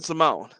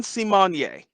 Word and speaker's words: Symoné: this article from People magazine Raven Simone reveals fans have been mispronouncing her name her name is not Raven Simone simonyea it's Raven Symone and I guess she